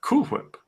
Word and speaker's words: Whip: Well, as it should be pronounced, Cool Whip. How else would one? How else would one But pronounce such a word? I mean, we have to distinguish between WALE and WHALE, I or mean, WAIL, I suppose.